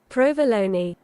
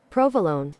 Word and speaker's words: provolone: We are looking at how to pronounce with a typical Italian pronunciation the name of this delicious Italian cheese.